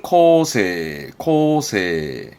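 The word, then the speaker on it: 構成: 발음은 코세.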